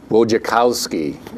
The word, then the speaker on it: Wojciechowski: It's called The Last Great Game, Duke versus Kentucky, and the 2.1 Seconds That Changed Basketball by Gene Wojciechowski.